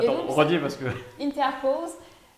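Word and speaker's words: Interpals: Interpols, Inter comme on l'entend, Ok. et Pals, P-A-L-S.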